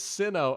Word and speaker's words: Sinnoh: To add to the Pokemon mispronunciations, Doc, I will say you keep pronouncing Sinnoh like Sinnoh. It's Sinnoh.